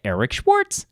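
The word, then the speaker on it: Eeeric Schwartz: You can follow me on social media, Instagram, Eric Schwartz with 3 E's. That's EEERICSCHWARTZ. It's pronounced Eric Schwartz.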